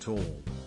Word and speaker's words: Thal: called neanderthal valley also the tall part is pronounced tall it means valley in german current german spelling is